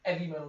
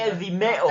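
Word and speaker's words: 'Eavy Metal: I think it's Heavy Metal, but they just took it's spelled EV Metal, EAVY Metal, but I think it's pronounced like Heavy Metal. You know what I mean? Like with like very European pronunciation. Heavy Metal.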